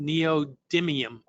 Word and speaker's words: neodymium: pronounce it incorrectly but I think it's pronounced neodymium uh magnets and did I do a good job Ron you got it you got it so